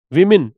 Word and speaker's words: woman: जहां जो highest child marriage rates हैं, ये सब्जेक्ट विमेन, इसको विमेन पढ़ते हैं, बताया था मैंने पहले भी। WOMAN, WOMAN, इसका प्रोनाउंसिएशन जो होता है वो वुमन है।